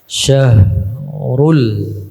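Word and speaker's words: الشهر: namanya tafasyi asyah kemudian Ha ini adalah bacanya dengan besar ya Syah Rul ya kemudian haromu Ya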